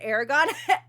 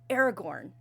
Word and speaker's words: Aragorn: Oh, did I said Aragon? I'm sorry. Aragorn. Excuse me.